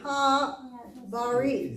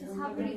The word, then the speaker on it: Habrit: Ha-Barit. Is that an E-R? I mean, I. half, Or Habrit. It's Habrit because it's a syllable marker, right?